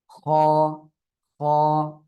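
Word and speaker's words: خاء: খ, খ। হলকের শেষ ভাগ থেকে এই অক্ষরটি উচ্চারণ হয়। হলক মানে গলা, এই গলার শেষ ভাগ থেকে খ।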